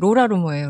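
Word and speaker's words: Laura Loomer: 제일 먼저 생각난게 그 로라 루머예요. 로라머. 로라 루머라고 30대 초반에 그 여성 직업은 없어요. 직업이 나는 루머를 퍼트리죠. 예. 조금 그 스펠링은 다르더라고요. 저도 그 루머인 줄 알았는데 다른 루머예요.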